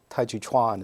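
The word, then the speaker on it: 太極拳: a different term than Qi so it's really mispronounced it's a Tai Chi Chuan is the correct pronunciation and well maybe not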